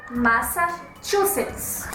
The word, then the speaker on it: Massachusetts: Yes, Massachusetts. Close. You need to remember that "chu" in English is if it were "tchu" in Portuguese. -Go for it. -Massachusetts.